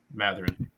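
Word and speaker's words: Mathurin: Matherin. Matherin.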